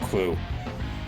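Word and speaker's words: Klutt: that I'm most familiar with, and yes, it's pronounced Clue.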